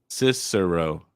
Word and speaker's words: Cicero: lot of people incorrectly Max is saying it's C Siro dicero is that how you pronounce it Cesaro Sith Cicero yes Cicero even Cicero okay got it we'll